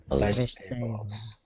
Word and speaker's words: vegetables: still hearing some people pronounce that second e it's not vegetables it's just vegetables vegetables vegetables good also you're